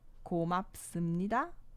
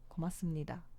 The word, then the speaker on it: 고맙습니다: 고맙습니다. 고맙습니다. 고맙습니다. Né? Esse piup também. Aqui, ele é um piup também, igual esse, só que ele é conjugado. Né? Ele é pronunciado porque em seguida vem um chiot, né?